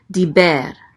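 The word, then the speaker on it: דִּבֶּר: Next we have a daled with a chirik. So this is D. The chirik says E. So this is D. And this is a bet with a segol. The segol says E. So this is be. And then the resh closes out the syllable. So it says ber. Diber. Diber.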